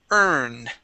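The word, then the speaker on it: urn: Um, this word here is earn. Earn. Okay, good. Yeah, it's pronounced exactly like the word uh e a money. Yeah. Yeah. Earn money. Okay. Pronounced exactly the same.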